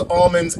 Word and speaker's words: almond: This one's Jason calls almonds almonds. Wow, I see this is bigger than I thought. He claims that the L is silent, and he knows this because he's from Chico.